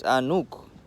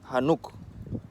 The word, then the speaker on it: Enoch: Regarding Enoch the Ethiopian, Enoch is actually, again with the pronunciation, it's Anuk, because Enoch is not how you pronounce Enoch in our language. It's Enoch. Enoch, I guarantee you, sounds like Hanuk.